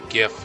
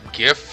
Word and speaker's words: GIF: looked it up, and when the creator says that GIF is pronounced incorrectly, it's supposed to be pronounced like a J, I'm gonna go, hey, cool, that's good enough for me.